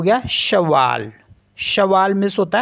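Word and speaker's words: cheval: ई वी ए एल तो ये हो गया शवा शवा मीस होता है हॉर्स और एफ ए सी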